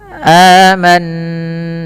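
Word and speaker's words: آمَنَّا: Cara membacanya adalah dengan menahan bunyi suara nunnya. Aman, sembari dimasukkan ke rongga hidung kita.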